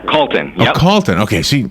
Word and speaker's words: Calton: And Calton, right? Did I get that right? Yeah, Calton.